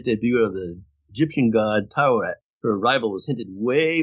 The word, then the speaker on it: Taweret: correct her by pointing out that it's actually Taweret.